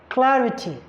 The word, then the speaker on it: clarity: counting from the end for example you have Clarity the primary stress force on CL a CL Clarity so if you are